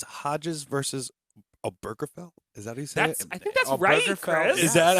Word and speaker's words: Obergefell: When you look at, I believe it's Hodges versus Obergefell. Is that how you say it? I think that's Oh, right, Burgerfell, Chris. Is that how you say it? Oh, Burgerfell, yes.